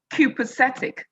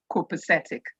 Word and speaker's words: copacetic: of the word copacetic an Englishman who pronounce the word copacetic but an American would say copacetic I'll probably like us to use the pronunciation copacetic at the end of all